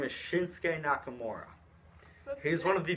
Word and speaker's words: Shinsuke: Shin. Ski? Close. Very So close. close yet so far. His name is Shinsuke Nakamura.